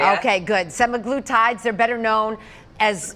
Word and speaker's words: semaglutide: SUGGESTING THAT THAT RISK INCREASES FOR PEOPLE USING SEMAGLUTIDE. I HOPE I’M PRONOUNCING THAT RIGHT, DOCTOR ALICE CONNORS KELLGREN, A CLINICAL PSYCHOLOGIST AT TUFTS MEDICAL CENTER.